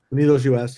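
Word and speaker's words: UnidosUS: Pew poll, but I saw, and I know Unidos, is that how you say it? Unidos US, yeah.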